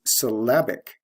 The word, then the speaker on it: syllabic: adjective form is syllabic notice the stress shift from first syllable to second syllable we have l e to IC ending plus the sound change syllable to syllabic did you hear the difference in vowel sound syllabic short a in the second syllable the next one is